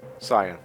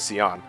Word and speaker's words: Cyan: Cyan. Oh, like the color. Yes, that's how I always pronounce it. No, when I was a kid, I pronounced it as Seion.